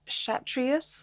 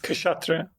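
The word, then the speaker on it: Kshatriya: the highest cast, and your father was from the Shatrias Cashatria. Cashatria cast. Yeah, that's right.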